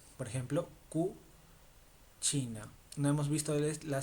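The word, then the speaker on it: cucina: Que significa como ahora Q, por ejemplo, cu china. No hemos visto la C y le pero se pronuncia chi.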